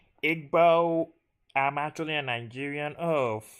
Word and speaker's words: Igbo: You're 12 years old, sitting under a mango tree in your Igbo village. What? Actually, it's actually it's pronounced Igbbo.